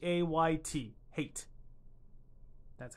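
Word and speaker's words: Hayt: most part he is the Menat eight and that's spelled h YT h a YT my bad h a YT hate that's how you spell his name anyway moving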